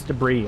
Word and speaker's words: debris: the head and say no not space Deborah's is space debris I don't care how it's spelled English is stupid anyway just just pronounce that